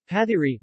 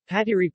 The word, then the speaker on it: pathiri: pathiri malayalam patiri pronounced pat e is a pancake made of